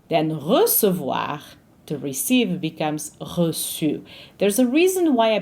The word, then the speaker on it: reçu: The E is a silent one. It's re, but it's not recu, it's reçu.